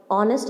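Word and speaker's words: honest: रहा है, जैसे एन ऑनेस्ट मैन, अब ये एच से स्टार्ट हो रहा है, एच एक हमारा कॉन्सोनेंट है, पर हम बोल कैसे रहे, प्रोनाउंसिएशन क्या आ रहा है, ऑनेस्ट आ रहा है, तो इसलिए हम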